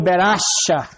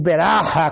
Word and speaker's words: Beracha: da morte, Deus transformou em Beracha, ou Beracha, como alguns falam, e outros ainda falam Beraca. Eu acho que a pronúncia correta é Beracha.